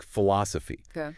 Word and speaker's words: philosophy: So, a word like philosophy. You hear how that emphasis is kind of in the middle there on that loss syllable.